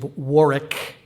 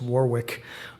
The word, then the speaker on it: Warwick: at the University of Warick, which is spelled W A R W I C to silly Americans like me. We often pronounce it wrong as Warwick.